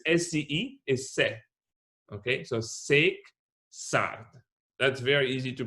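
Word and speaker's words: Szekszárd: very easy because s-c-e is se okay so sake that's very easy to pronounce all right six are wine tasting so six out that's the place where we are going and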